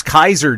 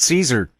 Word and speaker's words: Caesar: of us who took latin know that it's pronounced kikero kikero well that's right it's kaiser not caesar yep and they're celtic they're we used to